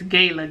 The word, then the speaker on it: Gala: okay which of these doesn't fit anju basque gala or bartlett bartlett it's gayla gayla is the apple the rest are pears i